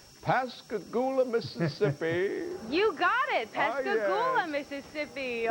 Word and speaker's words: Pascagoula: out to and Jillian tell me if I'm pronouncing this right Pascagoula Mississippi you got it Mississippi or Gillian's on